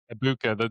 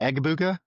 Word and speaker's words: Egbuka: Ibuka. The G is silent, Yeah. by the way. It's Ibuka. It's not Egbuka. It's just Abuka.